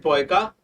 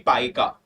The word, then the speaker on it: Paika: I pronounced it Poika, but it should be Paika.